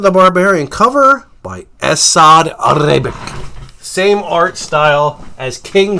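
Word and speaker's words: Ribić: His first name's Assad, last name Ribic.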